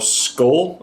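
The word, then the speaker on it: Schull: it is authored by natasha dao skull i think is how you say her last name s-c-h-u-l-l i'll have links down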